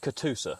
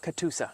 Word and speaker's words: Catoosa: It says, I'm probably going to pronounce this incorrectly, Catoosa Savanna Project? Yeah, so it's pronounced Catoosa. Catoosa.